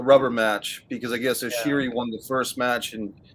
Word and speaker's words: Ishii: How do you pronounce the other guy's name? Ishii.